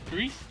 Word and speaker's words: Gris: i really enjoyed is called uh greece uh greece greece it's spelled out gris and i already 100